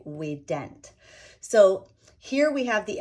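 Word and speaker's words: vident: or in the word we dent and yes it is a v-i-d-e-n-t and i say it with a w because that is how it is pronounced in latin we would say we dent so here we have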